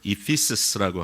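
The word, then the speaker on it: Ephesus: 이게 뭐 에베소서가 그 에베소라고 하는 곳은 그 영어로 발음을 하면 이피스라고 하는 그 에베소라고 하는 도시입니다.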